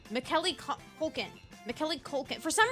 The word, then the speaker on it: Macaulay: It's Macaulay. See, you can write it out phonetically, and I will still struggle to say his name.